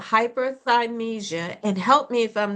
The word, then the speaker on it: hyperthymesia: Now, you have something called hyperthymesia, and help me if I'm not pronouncing that Yeah, that's right.